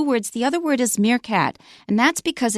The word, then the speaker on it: meerkat: the other word is meerkat and that's because it comes from Dutch and in Dutch ee is pronounced a so I said meerkat I wasn't sure it